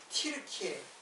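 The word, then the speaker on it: Türkiye: 터키라는데 옛날에 터키인데 지금은 티르키예요. 키르키에 티 키르키에라고 했죠. 이거는 이제 터키라는 이름은 이제 안 사용해요. 왜냐하면 옛날에는 이게 터키 터키 했는데 지금은 그 그라 발음을 그대로 어 발음에 가깝게 사용하려고 틸케어라 그죠.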